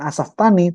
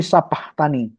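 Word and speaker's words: sabachthani: lama sabahani tapiama Asani yang diucapkan Yesus bukan asftani tapi Sabah Tani artinya Yesus waktu disalib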